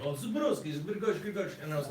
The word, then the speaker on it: Zebrowski: And how do you pronounce it? Zebrowski? Zebrowski.